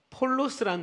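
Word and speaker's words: πῶλος: 나귀 새끼라는 이 새끼는 원어상 폴로스라는 단어를 써요.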